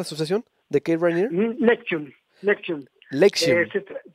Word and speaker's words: NXIVM: Nexium, Nexium. Lexium. Se dice Nexium, se escribe NXIVM, pero ellos siempre le han dicho Nexium, es, digamos, así como se dice Nexium.